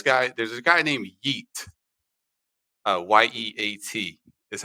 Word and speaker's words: Yeat: with this this guy there's a guy named eat uh y-e-a-t that's how you spell it yeah i had never heard of this